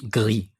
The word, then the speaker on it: Gris: I mean, that's how you say it in French. I'm sure it's said differently in other languages, so that's how I say it.